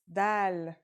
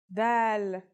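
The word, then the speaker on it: دال: notebook ready let's go our first letter is DAL it's just like the English D very easy to pronounce and easy to write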